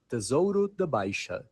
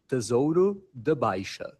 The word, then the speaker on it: Tesouro da Baixa: So the right way to say it in Portugal, the Portuguese from Portugal, the accent is Tesouro da Baixa. I'll say it again. Tesouro da Baixa.